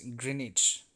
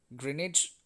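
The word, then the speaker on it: Greenwich: un United Nations GMT green witch meantime pronounced as greenage greenage me time pslv polar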